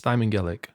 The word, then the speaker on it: Thymangelic: I believe it's Thymangelic. Yeah. Yeah. If I were to say it like phonetically, how it looks, it'd be Thijman. Yeah. Gelic. THIJ. Anyway, whatever.